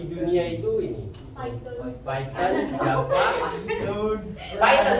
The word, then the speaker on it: Python: Nah, bahkan untuk tahun kemarin bahasa yang paling banyak digunakan di dunia itu ini Python, Java, Python memang betul cara pengucapannya Python. Bukan Python.